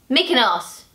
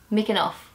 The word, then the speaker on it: Mykonos: Greek islands the lovely Mykonos or Mykonos I think I say you're wrong Joe how do you say make an ass making us Mikan off and they say it so not making us okay oh really yeah